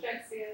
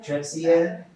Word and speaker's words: Drexciya: In Drexciya, how do you pronounce it? Drexciya, yeah. Drexciya.